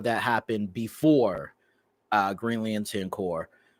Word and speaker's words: Corps: So, okay, basically there was a huge war that happened before Green Lantern Corps. Corpse. Oh, you said it right the first time.